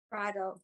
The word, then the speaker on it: Prado: cunio Jolene X and Gene Pratt is it pronounced Prado Prado here welcome thank you we